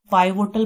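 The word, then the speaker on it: pivotal: इसकी pronunciation पिवटल है, लेकिन हमने इसको ट्रिक बनाने के लिए इसको हम पाइवोटल पढ़ रहे हैं, क्योंकि PI है तो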